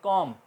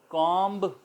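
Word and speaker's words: comb: में देख रहे थे अब लफ्ज़ के ऑफर पर कौन सा बी अगर ए जाए इससे पहले एम से पहले तो साइलेंट हो जाता है उसकी एग्जांपल हम देख रहे हैं कॉम जो कंघा होता है हमारा कॉम कहते हैं उसको स्पेल होते हैं सी ओ एम दी कॉम बोला जाना चाहिए मगर हम उसको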